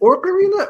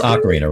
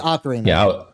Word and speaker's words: Ocarina: Now, is it Orcarina or is it Ocarina? Yeah, it's Ocarina, right? It's Ocarina. Yeah, I was just playing.